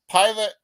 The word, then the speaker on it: Pilate: four verses uh so pilotti wrote an inscription excuse me I always mispronounce it pilot pilate also wrote an inscription